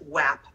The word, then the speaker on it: WAP: so he played it's by the way it's pronounced WAP not wet ass I hate when people say because that's an O so it's WAP sorry anyway he was playing that and it